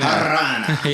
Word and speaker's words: Harana: No, you gotta roll your R's, bro. Harana. Harana.